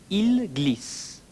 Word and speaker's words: ils glissent: Ils glissent. They slip. Though the written form is different, you will notice it's pronounced the same as the singular il form.